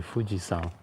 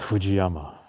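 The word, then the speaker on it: Fujisan: second pronunciation called son so if you say m Fuji you would say fujian not Fujiyama fujiama doesn't exist each of these characters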